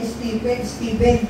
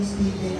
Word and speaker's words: Stephen: Yung kay Stephen. Ang pronunciation yan, Stephen. Di po yan Stephen.